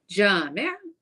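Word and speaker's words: جامع: It rhymes with talib. So you would say Jami', another word for masjid.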